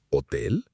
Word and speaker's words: hotel: La H en español es siempre muda. Muda significa que no se pronuncia, que no hace ningún sonido. Hola, hotel, hablar. Esa H es completamente silenciosa.